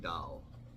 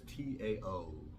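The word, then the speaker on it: Tao: with him uh Ming da is an author of this book and he mentioned actually even though it says T AO it's supposed to pronounce da instead of ta so I I told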